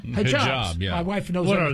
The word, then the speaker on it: hijab: haib h j a BS how do you pronounce that hijab hijab my wife knows what are they those long